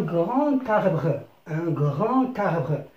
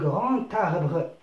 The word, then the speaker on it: grand arbre: لاحظ عزيزي أن grand تنتهي بالدي، بحرف الدي، حرف ساكن، ولكن عندما نطقنا سمعنا ت un grand arbre. والكلمة الثانية تبدأ بحرف متحرك فويل. إذا نقول un grand arbre، أي أن حرف الدي سمعناه تي.